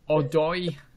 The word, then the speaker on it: Odoi: Christie, Odoi, Odoi. That's how you pronounce his name.